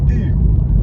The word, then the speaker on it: eu: But EU, for the moment, for this, and to do the verb to have, like in the passé simple, is going to be pronounced U.